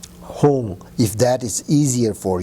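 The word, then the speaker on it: Hung: If you do not know the Tibetan Hong syllable, I think you also can imagine the English word Hong, which is H-U-N-G. Hong, if that is easier for you, of course I think it is.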